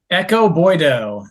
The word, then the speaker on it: Ekow Boye-Doe: quick scouting report on Do you pronounce it Echo or Ekow Boye? Ekow Boye-Doe. Ekow Boye-Doe, thank you.